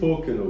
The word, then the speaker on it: Pokeno: bin ich, hoffe ich spreche ich richtig aus, Pocono Whisky? How do you say your whiskey? Pocono Whisky.